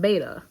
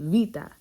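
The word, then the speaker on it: βήτα: alphabet and stuff and it's not beta it's beta or excuse me vita it's vita and then it's not gamma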